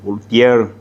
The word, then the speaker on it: Voltaire: este tema también eh voltaire o como como decimos en español voltier como se suele pronunciar decía de que yo puedo